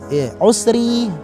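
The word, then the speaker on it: العسر: Adapun di kalimat al-usri, ro-nya di sini berupa ro yang tipis. Kenapa? Karena harokat ro tersebut berupa harokat kasroh. Jadi cara membacanya adalah fa inna ma'al usri, usri.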